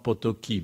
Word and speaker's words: Potocki: Jan Potocki a właściwie rząd potoki bo chyba tak się go wymawia po francusku autor rękopisu znalezionego w